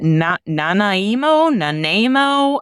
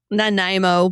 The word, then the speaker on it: Nanaimo: Okay, Sarah, you got to help me how to pronounce this one. Is it Nanaimo? How do you say this? Nanaimo, but I could be wrong. Nanaimo.